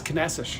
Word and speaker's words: Caneças: Maybe by the end of the day, I might actually get rid of my old pronunciation. What was it again? It's Caneças.